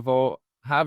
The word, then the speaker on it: Vohub: Well, I have to say, I had the opportunity to go to Vohub. Is that how I pronounce it?